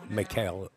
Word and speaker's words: Mikael: The young man you've seen walk into the right-hand side of your screen is Mikael. In the United States, we do pronounce it Mikael, but it is Mikael Øgaard from Norway is here.